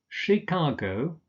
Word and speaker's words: Chicago: cities or towns here that are difficult to pronounce such as Caracas Canberra capital of Australia Chicago not Chicago Chicago Edinburgh Inverness stress on the